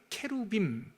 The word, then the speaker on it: 케루빔: 어 원래 발음으로는 발음으로는 케루빔 빔 그러면 복수고요. 어 케룹 그러면 단수예요. 케룹이 모여 있으면 케루빔.